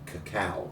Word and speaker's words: cacao: But the chocolate itself, or the bean inside, was originally called cacao. Cacao. CACAO. The Brits could not pronounce that, so it was easily transferred to chocolate. Okay. Or Cocoa, exactly. So, but it is indeed cacao.